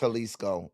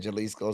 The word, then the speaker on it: Jalisco: It is pronounced Halisco. And I'm just saying Jalisco sounded like just a real gringo.